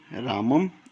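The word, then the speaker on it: रामं: अगर मैं क्या लगाऊं, राम के ऊपर अगर मैं अनुस्वार लगा दूं तो इसका उच्चारण जो हम क्या करेंगे, रामम, इस प्रकार से इसका उच्चारण होगा। रामम, इस प्रकार से इसका उच्चारण होगा।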